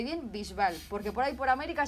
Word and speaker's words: Bisbal: gusta David Bisbal y quiero que la gente pronuncie bien Bisbal, porque por ahí por América seguro que dicen Bisbal. No, entonces yo voy a decir, como española, voy a decir David Bisbal y me agravo.